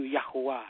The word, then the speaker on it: Yahuwah: Yes, and in the Hebrew language, we say all praise is due to Yahuwah. That's the pronunciation in the land from the land of Israel.